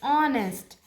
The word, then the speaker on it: honest: then Anji is an honest girl so here h is silent Huh? H is silent. So O is coming honest.